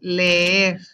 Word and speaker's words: leer: And also whenever you say leer, you're actually pronouncing both E's or both S, leer.